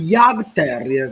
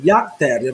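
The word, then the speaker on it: Jagdterrier: Si scrive Yag con la I, con la J di John, A-G-D Terrier, Yag Terrier, un terrier tedesco, anche il colore ci azzecca.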